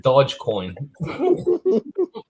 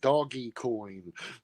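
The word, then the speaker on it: Dogecoin: to keep you yeah she'll give them 500 dodge coin funny thing is the first time rose saw that when she started trying to say it she pronounced it doggy coin doggy that's acceptable doggy doggy well it was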